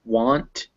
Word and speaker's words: want: banan but banana now if it's after a w sound it's normally an ah unless it's followed by a k or a that's why we get words like want and watch but not wag um the this seems like a